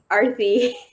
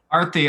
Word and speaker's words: Aarti: Can I also just confirm that I'm pronouncing that right? It's Aarti. Aarti, okay, cool.